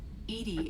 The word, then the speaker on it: EDI: a specific inquiry why are you named Ed Ed is the phonetic pronunciation of Eed that is an acronym for